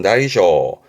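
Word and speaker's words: 大小: 발음은 다이쇼.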